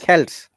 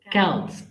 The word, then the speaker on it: Celts: Halloween origins date back to the ancient Celtic festival of Samhain, pronounced Samhain. The Celts, Celts. Celts, the Celts who lived 2000 years ago, mostly